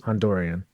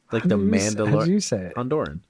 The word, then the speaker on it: Honduran: bird to Honduran Nationals Hondurian say it right Hondurian Honduran bro look at the spelling how do you say the